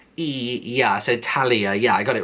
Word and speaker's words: Talia: And I think I pronounced it right, because you've said here it's pronounced yeah, so Talia, yeah, I got it right.